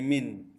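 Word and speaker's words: مِن: Ini bacanya min. Kalau ini man, ini min.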